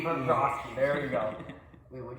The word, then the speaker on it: Bobrovsky: Bobby, I don't know how to pronounce his name. Sergey Bobrovsky. Bobrovsky.